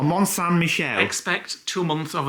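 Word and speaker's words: Mont-Saint-Michel: Lisa told us that it's not Mount Michel it's I just say it Melle so uh monan Michelle I expect two months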